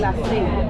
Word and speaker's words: gracias: Người Trung và Nam Mỹ phát âm nó là Gracias. Nó không được phát âm là thias . Ở đây nó được phát âm là S, vì vậy câu trả lời đúng cho từ gracia là gracia.